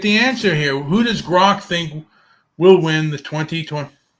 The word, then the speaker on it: Grok: I'm going to think real quick what I can think of a question to ask Gork. How do you say it again? Gark? Gark? I would go with Grok.